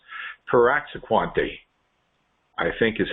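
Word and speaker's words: praziquantel: It's Piraxaquante, I think is how you pronounce it, Piraxaquante. Praziquante is the medication.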